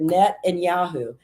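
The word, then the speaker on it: Netanyahu: Now put the two together with the word and. And I said, net and Yahoo. And he goes, that's how you say his name.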